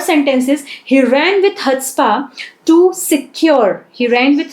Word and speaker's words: chutzpah: Okay, so the third sentence is he ran with chutzpah to secure, he ran with chutzpah, ठीक है, यहाँ पे C जो है वो साइलेंट है।